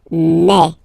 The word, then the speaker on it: mes: aspect of it then remember that this is here combined will give you the sound eh ok so you'll pronounce it like Mae Mae Mae ok hey so